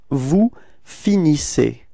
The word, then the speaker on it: finissez: So you can see that the ending, the last two letters, so EZ, are pronounced like E. Okay. IC. Alright. And you get the form vous finissez.